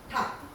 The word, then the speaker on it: 닭: 닭. 이걸 어떻게 달기 이렇게 하거나 발을 이렇게 발음해요. 아니에요. 얘는 발음이 닭이에요.